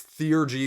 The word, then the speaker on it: theurgy: Theurgy. Okay, I cheated. It's Theurgy because I looked it up on Google.